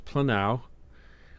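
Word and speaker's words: πλανάω: So it's planao, cause to roam or lead astray.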